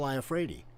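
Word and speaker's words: Iafrate: you pronounce his last name. Al Iafredi.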